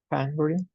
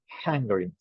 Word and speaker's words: hungry: This word starts with an H, and you pronounce the H like a J, ¿no? Or like in Spanish, como una J. That's why we say hungry, hungry.